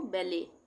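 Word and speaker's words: ballet: बी A double L ई टी। तो यहां पे टी साइलेंट हो जाएगा। यह फ्रेंच वर्ड है। इसमें हम क्या पढ़ेंगे इसको? बेले।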